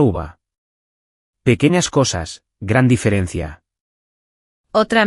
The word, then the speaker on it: uva: Y uva es muy corta, no u con acento va, solo uva.